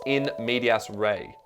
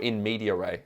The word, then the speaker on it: in medias res: does the play commence in medias Rey or in media Ray it's sometimes pronounced yeah very good at